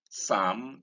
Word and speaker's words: psalm: Like we came across silent L earlier in such ways as calm, psalm, and palm.